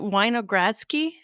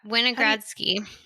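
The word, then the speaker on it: Winogradsky: going to pronounce properly is it weiner gradski oh yeah winogradski yeah can you explain to people what that is the wine of grass keep column i think it's called yeah so a winogradski column is a way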